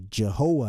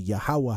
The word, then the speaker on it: Yahuwah: israel its yahwah alright so in English they transliterated to jehovah has but it's really yahuwah has if they was trying to say it properly to the best of their ability so it would be